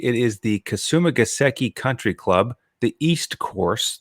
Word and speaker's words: Kasumigaseki: So if I can just pronounce the course correctly, it is the Kasumigaseki Country Club, the East Course.